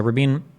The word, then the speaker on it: Rabin: So Rabin, or Rabin, I've heard his name pronounced both ways, Yitzhak Rabin or Yitzhak Rabin, was the guy that was the prime minister when the Oslo Accords get signed.